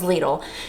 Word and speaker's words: Lidl: I said, "Do you say it lidle or do you say it lidle?" And the Googler told me it was lidle.